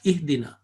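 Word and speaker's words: اهدنا: But mostly we will give a kasra and we start ihdina.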